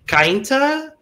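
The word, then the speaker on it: Cainta: about touring 29 from kainta is how the city is pronounced i think um i think it's like um kind of the vowels are separated go ahead logan oh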